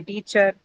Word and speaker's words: teacher: The last sound that you hear or the ER suffix that you have in these words are basically the schwa sound, a sound. They all end in a.